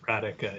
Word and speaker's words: Rajcik: thank you um davis rajcik apologies if i mispronounce that it's radical just ignore the j thank you i'm with